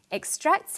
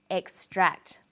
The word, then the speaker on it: extract: It's on the second syllable, extract. But extract is also a noun. When it's a noun, it's pronounced extract. The emphasis is now on the first syllable.